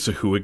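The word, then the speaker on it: sahuagin: Uh, it's I've always said sahoo. I think that's the official pronunciation.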